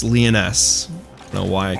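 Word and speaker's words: Lyonesse: I keep calling them Lionese, but it's Leoness.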